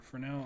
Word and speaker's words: Fresnel: so there's also this thing called it's either fresnel or forell I'm not actually sure look it up because I keep this keeps coming up pronunciation of of this word how to pronounce